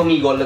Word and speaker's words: Omegle: Io Omegol, perché sennò c'è chi dice che non abbiamo una buona pronuncia.